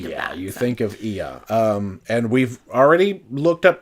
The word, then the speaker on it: Oia: So, and yes, we've had to learn to pronounce OIA, and the consensus is that it is Ia.